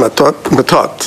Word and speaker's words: Matot: Madame Matot is how the correct pronunciation. Is that true? Hello. I'm just asking you the correct pronunciation. It's Matot? Matot, oui, c'est ça, Mr.